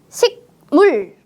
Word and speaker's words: 식물: 잘 들었나요 어떻게 읽었어요 식물 아니에요 식물 식물 어때요 받침에 그 자음이 뒤에 있는 무 비음을 만나서 식물이라고 바뀌었습니다 그 자음은 응 받침으로 바뀝니다